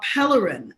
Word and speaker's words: Pellerin: louisiana remember trayford uh pellerin i believe is the pronunciation of his last name he was shot 11